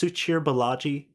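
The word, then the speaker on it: Suchir Balaji: for open AI uh suchir I think it's pronounced suchir bellagi and he was a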